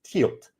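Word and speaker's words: Tielt: The proper and current name for Tileum is Tilt."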